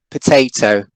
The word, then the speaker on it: potato: For example, let's take the word potato, right?